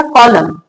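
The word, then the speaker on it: column: सी ओ एल यू एम N. Word का last अक्षर एन हो और उसके जस्ट पहले एम हो तो क्या पढ़ेंगे? एन साइलेंट रहेगा कॉलम।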